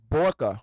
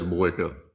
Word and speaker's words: Boyka: Borka, but if I'm saying his name wrong, man, it's gonna be bad. But Yeah, it's Boyka.